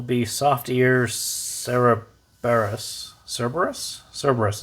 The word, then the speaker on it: Cerberus: soft ear cerebrus cerberus cerberus is probably how you pronounce it i will call it